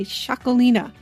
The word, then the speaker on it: Txakolina: In this case, I have what's called a shakalina. That is spelled with a t x a k o l i n a.